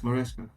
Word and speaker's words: Maresca: Moresca, however you pronounce it. Yeah, it's Moresca.